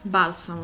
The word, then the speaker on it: Balsamo: Balsamo. Bal, sa, mo. Balsamo, Italian for balm.